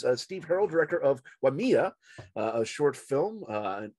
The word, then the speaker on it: Waimea: a wanker but i gotta correct you it's pronounced waimea yma i knew i was gonna pronounce it